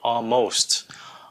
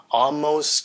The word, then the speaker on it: almost: Almost, cái này đa số các bạn hay nói là almost, làm như có chữ N trong đó. Cái chữ A, L, nó không có phát âm chữ N, on, nó là O.